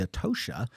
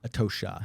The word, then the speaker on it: Atocha: So the Atocha, am I saying that correctly? No. Okay, that's why I'm here. It's pronounced the Atocha. The Atocha? Atocha, yeah.